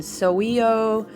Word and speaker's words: Sowulo: roon for the sun so we owe is how i've always pronounced that roon you guys know